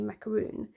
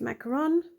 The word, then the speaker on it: macaron: and here we have the tasty macaroon or as I pronounce it macaron not sure so I'm